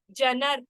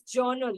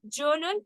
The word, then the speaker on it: journal: spelling is like that spelling is like that but the pronunciation is totally different Journal we have to say